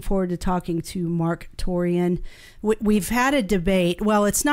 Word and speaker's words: Torien: Most videos that I've seen him say his name was Torien. Torien.